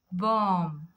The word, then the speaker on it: bomb: Bomb.